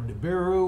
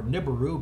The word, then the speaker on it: Nibiru: And incidentally, this includes all the talk about the so-called Planet X or Nibiru or Nibiru, but depending on how you like to pronounce it.